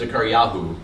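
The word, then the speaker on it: זכריהו: Or the actual Hebrew pronunciation is Zechariahu, which is a lot more fun to say.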